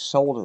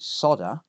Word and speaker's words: solder: the solder to flow notice how i pronounce solder the correct way not like lewis rossman from rossman repair group who misses the l and pronounces it soda if you don't know